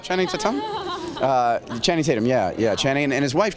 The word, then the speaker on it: Channing Tatum: I think it's pronounced Tatum, right? Channing Tatum? Channing Tatum, yeah.